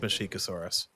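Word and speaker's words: Masiakasaurus: Mashikosaurus, how do you say that? Mashikosaurus. I don't know why I thought the other one. Mashikosaurus. Well, because it's spelled Masiacosaurus, but it's pronounced Mashikosaurus.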